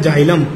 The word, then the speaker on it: xylem: ये मैं दिखा देता हूं स्पेलिंग आपको। एक होता है फिलोइम, एक होता है जाइलम।